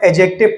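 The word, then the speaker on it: adjective: हैं क्लियर है ना आपको याद रखना है ए और जे के बीच में दी यदि कहानी पर भी हमें लिखा हुआ मिले तो उसे दी को साइलेंट कर दिया जाता है तो इसको मैं एडजेक्टिव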